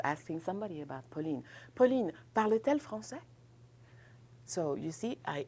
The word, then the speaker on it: parle-t-elle: But for pronunciation purposes, parce que ici j'ai deux voyelles, ok? Donc, vous ne pouvez pas avoir deux sons de voyelles ensemble, donc je vais ajouter la consonne T, hyphen T hyphen.